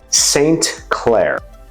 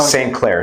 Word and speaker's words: St. Clair: St. Clair. Such as when you hear people say, you know, Saint so-and-so, Okay. Saint Mary's Church. Saint Patrick. Yeah, Saint Patrick, Okay. Saint Clair, same Is pronunciation.